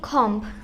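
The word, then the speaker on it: comb: হবে প্রথমটা হবে হবে সি ও এম বি কম এই যে বি আছে তুমি কিন্তু বি বলোই না তাহলে তোমারটা হবে বিটা সাইলেন্ট ওয়ার্ড এটা সাইলেন্ট ওয়ার্ড তাহলে এটা কি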